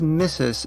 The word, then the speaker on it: Mrs.: - Miss or Mistress: We usually pronounce mistress as missus in America.